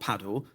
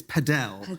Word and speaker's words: padel: When we did the preview podcast, you were very excited about something called not paddle because you corrected me that I pronounced it wrongly. It's padell apparently.